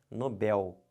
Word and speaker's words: Nobel: a pouco próximas aulas mas perceberam se você fala errado você vai escrever errado você botar um acento onde não tem isso aqui está errado o certo não é Nobel o certo é Nobel aqui ó como é